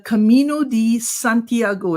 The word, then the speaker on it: Camino Santiago: get the pronunciation right you embarked on the Camino Santiago is that the correct pronunciation yeah exactly okay you went on that